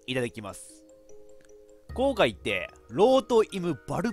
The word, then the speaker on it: Rot im Wald: いただきます公開ってローとイブ wald って読むらしいですこれドイツ語で